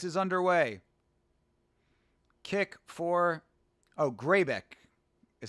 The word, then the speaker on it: Grzebyk: Kick for Oh, Greybeck is how you pronounce his name.